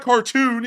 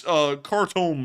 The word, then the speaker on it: Khartoum: Some of y'all last night were like, it's not cartoon, it's Khartoum or something like that. It's in American pronunciation, it's actually Khartoum, and it sounds a lot like cartoon.